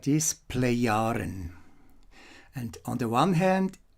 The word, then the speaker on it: Plejaren: page here is the play iron that's not play charm or anything like this play yarn and on the one hand is the name